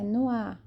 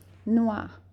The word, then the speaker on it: noix: Não é noir, não, é noir. Não tem R. Então, a fonética de noir, de nozes, é noir. Noir, como se fosse noir. Alguém se jogou no ar. Lembra disso, ok? Noir é nozes, un poisson,